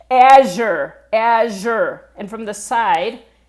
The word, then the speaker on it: Azure: My mouth comes out away from my face, Azure. Hopefully all of these tips help you to get the right pronunciation, Azure. Now I'm going to tell you the word that I heard on the several calls that I've facilitated where individuals have said Azure. I've heard the word assure, assure, A-S-S-U-R-E, which obviously